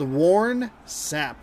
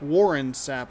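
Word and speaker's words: Warren Sapp: side of the field warn sap warren sap i should say because that's how you say it you know correctly second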